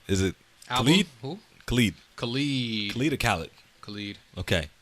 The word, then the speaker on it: Khalid: did over elements speaking albums how do you pronounce his name is it ali khalid cali leader Khaled Khalid okay Khalid came out